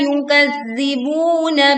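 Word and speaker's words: يُكَذِّبُونَ: Alladzina yukazzibuna biyaumiddin. Tekan pada huruf lam bertasydid. Alladzina panjang 2 harokat pada huruf zi. Yukazzibuna, tekan pada huruf zal bertasydid, kemudian panjangkan buna 2 harokat.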